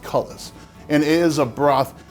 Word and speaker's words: cullis: what the internet says, this is not pronounced coulis in our time period, it's pronounced cullis.